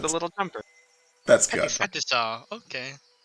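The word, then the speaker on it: petit saut: Patisa. Okay. The T is silent because it's French.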